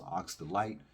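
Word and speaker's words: Aksdalit: the place right now AK s d a l i t pronounced Ox Delight I'd like to thank you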